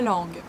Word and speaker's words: langue: 3 S is not pronounced and langue, ES are not pronounced.